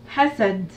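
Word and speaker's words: حسد: Alors c'est hasad. Alors, ha, sad. Correction. Donc vous avez trois syllabes et les 3 syllabes sont des sons courts.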